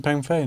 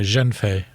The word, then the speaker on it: Zhengfei: I'm pronouncing it wrong. It's Ren Pengfei, no? No, Zhenfei.